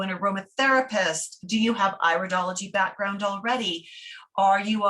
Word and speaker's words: iridology: who might be new to this the correct pronunciation is iridology not iridology okay iridology might be studying these things on